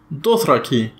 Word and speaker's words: Dothraki: itself it's actually pronounced Dothraki with the stress on the first syllable next we have a